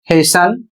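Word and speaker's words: hasten: अगला शब्द है एच ए एस टी ई एन इसे पढ़ा जाएगा हेशन और इसका अर्थ होता है जल्दी करना।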